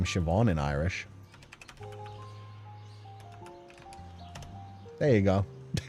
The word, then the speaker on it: Siobhan: That is pronounced as Siobhan.